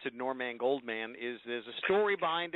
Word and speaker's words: Norman Goldman: And, you know, the reason I pronounce it NorMAN GoldMAN is there's a story behind it.